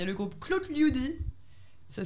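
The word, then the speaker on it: Klotljudi: Alors, il y a le groupe Claude Liudi. Ça s'écrit K-L-O-T-L-J-U-D-I.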